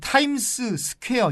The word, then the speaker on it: 타임스 스퀘어: 많은 분들이 타임스 스퀘어라고 발음을 하는데 타임스 스퀘어가 아니고요. 타임스 스퀘어가 맞습니다. 그러니까 미국 분들이 타임스 스퀘어 이렇게 발음은 안 하겠죠. 타임스 스퀘어 이렇게 발음을 하겠지만 그렇다고 해서 타임스 스퀘어는 아닙니다. 타임스 스퀘어는 잘못된 발음이고 타임스 스퀘어.